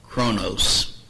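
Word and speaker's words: χρόνος: if you look here it would be pronounced Kronos um can you think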